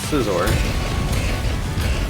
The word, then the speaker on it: Scizor: I'm pretty sure Aaron said Caesar. I see Scissor. It's Scizor. Yeah, scissors.